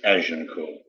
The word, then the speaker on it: Agincourt: Actually, it's spelled Agincourt, but it's Agincourt.